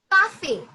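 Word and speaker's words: café: A great example is cafe. Cafe, which means coffee or cafe as well. So cafe in this C is pronounced as K or ka, cafe.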